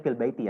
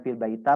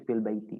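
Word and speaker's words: في البيتِ: seperti ini ini kan dibacanya fil Baiti ya bukan fil baita bukan fil baitu tapi fil Baiti karena memang kaidah dari sananya begitu ya karena kaidah dari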